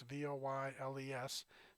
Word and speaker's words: Voiles: Dwight Bauer, an election consultant for the Fulton County Department of Registration and Elections, informed Thorne and Voiles, that's Voyles, Thorne is spelled Thorne, that, according to Georgia law, they have to be reappointed as poll managers for each election event.